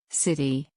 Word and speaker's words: city: the next word in the word city the t is pronounced as a flap sound let's repeat city again city a way